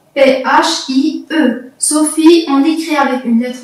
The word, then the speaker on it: Sophie: Sophie, il y a E à la fin, lettre muette. Sophie, S majuscule O, P-H-I-E. Sophie, on l'écrit avec une lettre majuscule car c'est un prénom de fille.